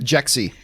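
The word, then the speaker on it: Jexi: remind me the name of the movie Egon jexy jexy how do you spell that je X I it's the name of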